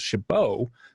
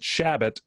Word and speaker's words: Shabo: called him shab because his last name was Shabo what still is but people sometimes mispronounce it Chabot and so we called